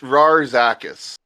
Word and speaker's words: Braskus: It's pronounced Rarzakis, but because of how he speaks, everyone assumes there's a B, so that's how it was written on official documents for him.